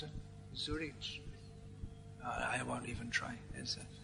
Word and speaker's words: Zurich: So if you're on a flight from Zurich, how do you pronounce it? Zurich? I won't even try. That German z is different to the English one.